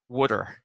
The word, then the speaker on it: water: T's aren't pronounced very well, right? It's like say water, like a Philadelphian or like a Philadelphian. Wooder. Wooder. WOODER. There's a word called John.